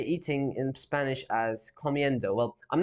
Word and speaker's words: comiendo: So and do is pronounced like dough, similar to a dough in dough. So a comiendo, right? That does sound better. Initially, I thought this would be something like comiendo, but it's comiendo, right?